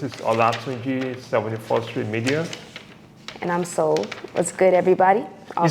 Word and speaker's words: Soul: And I'm Soul. What's good, everybody? You said soul or what? I am Soul. How do you spell that? S-O-U-L, like your heart, mind, and soul.